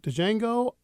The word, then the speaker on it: Django: but I mean and Django is cute I think did you see it I think if Django came out another year I think it would do really well the D is silent yeah jangle jangle you